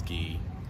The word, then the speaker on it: Guy: that's not guy that's ghee so how do you say It Shaggy because